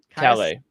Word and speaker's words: Calais: Specifically, Alex, you pronounced it correctly before. What is it? Calais.